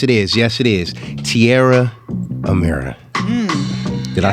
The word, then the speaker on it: Tierra Amira: Tierra Amira.